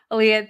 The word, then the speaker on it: Alia: Aaliyah, I am pronouncing your name correctly.